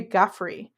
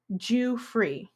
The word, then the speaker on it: Giuffre: Interestingly enough, I was always calling her Virginia Giuffre, but I think it's pronounced Virginia Giuffre.